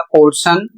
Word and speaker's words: portion: यहाँ पर अगला शब्द है PORTION और इसे पढ़ा जाएगा पोर्शन।